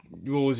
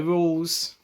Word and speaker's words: Rouxls: not being controlled by Rouxls. This person. What can I say? Rules are meant to be broken. Rouxls' first name is pronounced the exact same as the word rule.